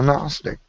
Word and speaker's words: Gnostic: Gnostic and I'm a gnostic I'm sorry is that a bad word gnosticism gnostics if you want to pronounce it with the G no Gnostic is believing that God